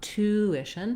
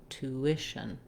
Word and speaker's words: tuition: make sense spelling wise you can think about it as the same as the word two or the number two and i'm still relatively short on that syllable so not tuition but tuition tuition when i move